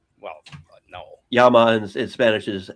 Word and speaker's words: llama: Yama in in Spanish is l L A M A.